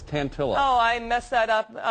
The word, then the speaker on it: Tantillo: Tantillo. Is that how you say it? No, it's Tantillo.